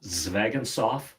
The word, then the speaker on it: Zvegintzov: The last name is Zvegintzov. It's you pronounce it exactly how it's spelled.